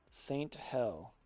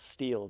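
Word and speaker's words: Sthell: This game is called Saint Hell, but I think it's actually pronounced Steel because the code name of the game is Steel.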